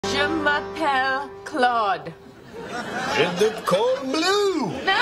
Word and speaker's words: Je m'appelle: Okay, let's just let's try it one syllable at a time. Okay, so repeat after me. Je Je m'a m'a pelle pelle Great. Okay, faster. Je Je m'a m'a pelle pelle Je m'appelle.